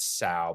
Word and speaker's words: Tsao: But TSO, they pronounce it Sao, but it's in Mandarin, it's pronounced.